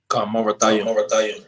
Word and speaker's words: Merathaim: That word is how you pronounce it? Marathaim, right? Marathaim.